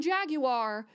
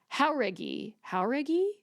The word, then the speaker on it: Jauregui: Listen, before I started recording this, I looked up how to pronounce her last name because I've been calling her Lauren Jaguar since Fifth Harmony days, okay? Jauregui. That's literally the phonetic pronunciation that I wrote down in my notes, and I don't even think it's right.